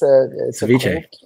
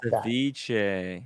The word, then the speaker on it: ceviche: I'm not pronouncing it right. Ceviche. It's ceviche. Thank you. Yeah. Ceviche.